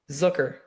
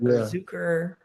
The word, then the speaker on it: Zucker: Zooker. Zucker. Okay. Okay. That's smooth. Every Everyone thinks it's like Zucker or Zuker weird stuff, but no.